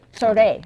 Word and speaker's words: 소래: 소래. Sorae.